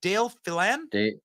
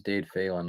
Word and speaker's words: Dade Phelan: David, how do we pronounce this? Dale Phelan? It's Dade Phelan, I think.